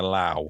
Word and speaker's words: lough: I thought it was very good, except you referred to it as a loch rather than a lough. It's spelled L-O-U-G-H.